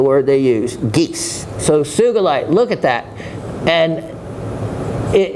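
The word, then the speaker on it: sugilite: how to correctly pronounce sugalite it is with a hard G as in geese that is the word they use geese so sug light look at that and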